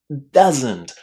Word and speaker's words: doesn't: So, how do you say this? Doesn't. Doesn't with a nice short ah.